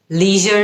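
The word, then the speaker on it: leisure: আপনি যদি American অ্যাকসেন্টটা follow করে করেন তাহলে আপনি লিজার এভাবে বলবেন, আপনি যদি ব্রিটিশ অ্যাকসেন্টটা ফলো করে করেন আপনি তাহলে লেজার এভাবে বলবেন।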